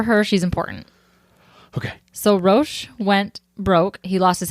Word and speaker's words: Roch: okay it's really hard because his name is pronounced Ro but it is spelled r c h so